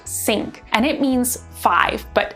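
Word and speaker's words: cinq: East next we've got c-i-n-q which is pronounced sync and it means five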